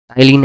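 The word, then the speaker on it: ptyalin: टाइलिन enzyme, ठीक है। कौन किसका पाचन कैसे करता है तो वो सब लिखना जरूरी है। टाइलिन एंजाइम, इसमें पी साइलेंट होगा शायद, ठीक है।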